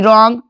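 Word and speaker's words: wrong: डब्ल्यू आर क्या है? साथ में है तो डब्ल्यू का उच्चारण नहीं होगा। डब्ल्यू आर ओ एन जी रॉन्ग रीस्ट rap rake.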